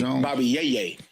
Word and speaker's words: Bobby Yay: Bobby Yay.